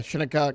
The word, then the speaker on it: Shinnecock: You got to make sure it's Shinne.